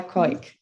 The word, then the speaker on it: Keuck: So Kathryn, Tabb, and Keuck. I should have asked you if I pronounced that well, actually. Yeah, it's all fine. It's Keuck. Keuck.